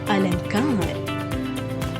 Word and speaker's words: अलंकार: उदाहरण, अलंकार शब्द में अनुस्वार क से पहले आया है, अतः इसका उच्चारण होगा अलंकार।